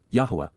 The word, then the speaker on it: Yahweh: and Daughters of yah Yahweh Yahweh the proper pronunciation of the name of eloah God as directed in his